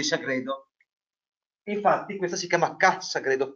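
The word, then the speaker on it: Ca' Sagredo: Infatti, questa si chiama Ca Sagredo, Ca, non con l'accento ma con l'elisione, con l'apostrofo, è Casa Sagredo.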